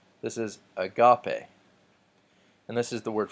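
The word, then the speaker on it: ἀγάπη: to you agape agape so there is a smooth breathing mark I don't pronounce an H and then the emphasis the emphatic mark that is over the second alpha which tells me that this isn't a gupty or I got pay this is agape and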